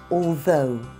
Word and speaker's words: although: And the word was although.